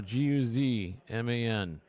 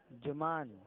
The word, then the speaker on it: Guzman: No, Guzman. Juman. No, Guzman. Alright.